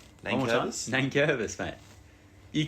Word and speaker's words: Nankervis: Nankervis.